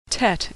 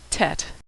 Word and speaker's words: Tet: Tet is pronounced T as in tango. Tet.